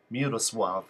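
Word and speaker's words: Miłosław: beard the brand that the crossed L has a W sound so it's Mia Mia Woodall suave Mueller suave and the W at the end has a V sound Mira suave crazy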